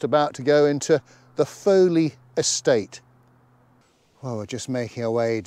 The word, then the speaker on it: Foley: It shows as Foley, F-O-W-L-E-Y house on an 1898 map. I'm hoping it's pronounced Foley and not Folly.